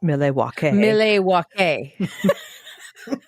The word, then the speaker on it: Milwaukee: she was born in Milwaukee Wisconsin it's actually pronounced MW mle which means the good